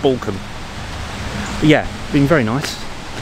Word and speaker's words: Balcombe: The Balcombe or Balcombe? People get very upset if you mispronounce their town's or village's name. I'm saying it's Balcombe.